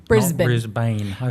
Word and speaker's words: Brisbane: I should know yes you call it Brisbane Brisbane a lot of Americans say Brisbane okay and Mel Bayne haha 80ml born yeah it is Brisbane and Melbourne Melbourne yeah we got it